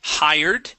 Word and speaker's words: hired: Let's go to hired. Hired. Hi. So we want to pronounce that H.